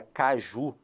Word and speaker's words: caju: percepção natural da língua ele percebeu que a última sílaba O Ju era a sílaba forte só que aí